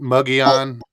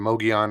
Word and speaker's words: Mogollon: Some people pronounce it Mugion, the Mugion rim. I hear the Mogion rim more often than not.